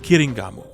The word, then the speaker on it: Kiringamu: His name here is a play on this, as in the original Japanese, it would be pronounced Kiringamu.